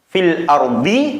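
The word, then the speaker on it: فِي الْأَرْض: Maka cara bacanya fil ardi, ketika diwaqafkan menjadi fil ard.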